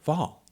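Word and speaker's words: Hval: Also, Jenny Haval is pronounced with the H. Love from Norway, Anthony. Without the H. Oh, okay. Jenny Val.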